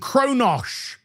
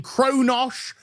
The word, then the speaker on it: Kronos: And here with Kronos, which was mispronounced in the episode multiple times, as was Kalis, as they kept referring to Kalis as Kalish and Kronosh. They kept saying Kronosh and Kalish. It's Kronos and Kalis.